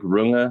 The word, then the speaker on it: Runge: strange one yeah it's it's like runga in German something but I can't pronounce it the correct German way so gotcha America rungi but it's always been